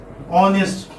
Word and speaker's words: honest: Honest, for example. Now here H is silent.